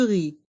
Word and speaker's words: riz: légumes des légumes du riz du ri attention dans le mot ri le Z est mué ri du RI du